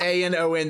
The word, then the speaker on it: anon: Well, no, I would say anonymous, but when people say just A-N-O-N, they pronounce it Anon.